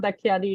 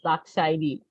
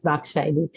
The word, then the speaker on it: Dakshini: name wrong, but Yeah, it is not Dakhyani, it is Dakshini. okay. Yeah, that is written wrong there. Yeah, I think that's Dakshini. Yes. Yeah, it is Dakshini.